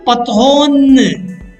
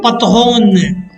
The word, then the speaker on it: patronne: Un patron, une patronne. Un patron, une patronne. Beware of the pronunciation. Un patron, nasal. Une patronne. Un patron, une patronne.